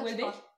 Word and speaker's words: Houellebecq: Houellebecq? Ouais. C'était ça? Oui. Est-ce que ça se prononce comme ça? Personne ne sait. Si, ça se prononce comme ça. Houellebecq?